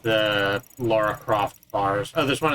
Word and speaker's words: Lara: I keep saying Laura. It is Lara. Yeah, because they thought Americans couldn't pronounce Laura. Meanwhile, Americans have a hard time pronouncing Lara instead.